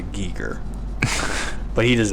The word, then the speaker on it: Geiger: I said he says Geiger in there he pronounces a Geiger yeah but I believe if you were German he would pronounce a geek er but he does not